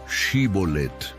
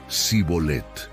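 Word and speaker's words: shibboleth: Para identificar a los efrainitas que intentaban escapar cruzando el río Jordán, les pedían pronunciar la palabra Shibolet. Por su dialecto, ellos no podían pronunciarla correctamente y decían cibolet.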